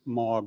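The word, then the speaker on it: M3AAWG: against it uh so the three is silent in that name in 2009 they asked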